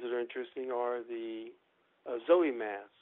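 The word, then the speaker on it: Sowei: And then there's the other ones that are interesting are the Zoe mask. It's spelled Zoe, S-O-W-I-E.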